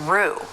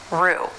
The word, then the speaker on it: roux: French pronunciation also in Rue again a word borrowed from French a mixture of fat and flour to thicken sauces Pho Bordeaux Roux the letter x is silent but the most common